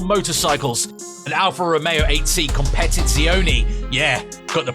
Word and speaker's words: Competizione: Polaris Slingshot three-wheel motorcycles an Alfa Romeo 8C competit zioni yeah got the pronunciation right a Ford F-150 a Lamborghini Aventador